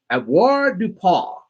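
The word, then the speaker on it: avoirdupois: And you think of a puppy's paw, okay? Avoir du paw.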